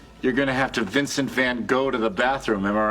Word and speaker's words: Van Gogh: You two keep chugging like that, you're gonna have to Vincent van Gogh to the bathroom, am I right? It's pronounced Van Gogh.